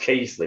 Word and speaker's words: Keighley: are from uh you know i hope i pronounce this right keeley keithley he's absolutely pronounced it's pronounced casely but you keep calling keely but yeah okay